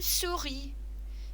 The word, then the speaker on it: souris: And remember, you don't need to pronounce that end letter in French.